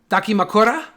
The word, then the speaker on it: dakimakura: need the DA camera pillow how do you pronounce it duckie duckie ma Kura dakimakura dakimakura pillow add a key pillar with dakimakura